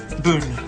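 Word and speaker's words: Boone: to be uh ridiculous and CJ gets some pronunciation lessons yeah not D not bo bo bo Boon that's right Pat Boon Pat boon with the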